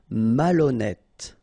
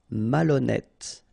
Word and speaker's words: malhonnête: Malhonnête. Okay, remember H doesn't exist, so malhonnête. Don't insist on the final E. Malhonnête. And here you get E accent circonflexe, so you pronounce it like E.